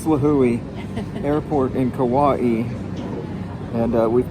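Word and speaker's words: Līhuʻe: Here we are at Lahu or Lahui. It's Lahui. You pronounce each vowel separately. It's Lahui Airport in Kauai.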